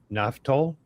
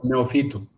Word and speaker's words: Neofytou: Is it Naftol? Is that the right it's Neofytou.